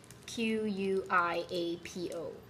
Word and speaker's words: Quiapo: See, this is how you pronounce it. Q-U-I-A-P-O. Q-U-A-I-P-O. Can you read it? I'm not sure. Okay, so that's Quiapo.